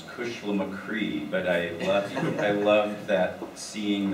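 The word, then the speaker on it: Cushlamochree: It's pronounced. And so whenever I say Kushlamacree, you have the acetate discs of the second radio version of that.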